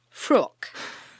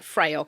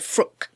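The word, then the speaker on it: Fraoch: I believe it's pronounced fru okay um get a hold of some of that it looks like it's it's spelled f r a o c so it looks like freyo and I'd been calling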